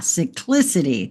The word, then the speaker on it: cyclicity: Ah, cyclicity. There we go. That's how you pronounce that.